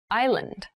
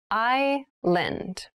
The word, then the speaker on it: island: thailand has many rainforests island island i lend an island is a